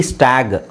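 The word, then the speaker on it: stag: ಈ ತೆಗಿತೀನಿ ಅಂತ ಇಟ್ಕೊಳ್ಳಿ ಈ ಇಲ್ಲ ಅಂದ್ರೆ ಇದರ ಉಚ್ಚಾರಣೆ ಏನಾಗುತ್ತೆ ಗೊತ್ತಾ ಎಸ್ಟಿಎಜಿ ಸ್ಟಾಗ್ ಯಾಕ ಹೇಳಿ ಇದಕ್ಕಿಂತ ಮುಂಚೆ ನಾನ ಏನು ಹೇಳಿದೆ ಕೊನೆಯಲ್ಲಿ ಜಿ ಬಂದ್ರೆ ಅದನ್ನ ಗ ಅಂತ ಹೇಳಬೇಕು ಸೋಎಸ್ಟಿಎಜಿ ಸ್ಟಾಗ್ಎಸ್ಟಿಎಜಿಇ ಸ್ಟೇಜ್ ಪಿಎಜಿ ಪ್ಯಾಗ್ ಪಿಎಜಿಇ ಪೇಜ್ ಸೊ ಇದು ಈ ತರ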